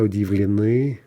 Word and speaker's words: удивлены: Друзья удивлены. Watch the stress shift.